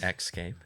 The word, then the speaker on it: Xscape: I mean, it's pronounced X. Xscape.